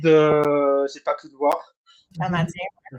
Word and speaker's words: Canadiens: voir un match des Canadians. Donc euh par avec le avec le Covid, j'ai pas pu te voir. Canadiens. Ouais, je le prononce à l'anglaise.